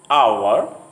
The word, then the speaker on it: hour: In some words, the H sound at the beginning often is not pronounced. For example, honor, hour, honest.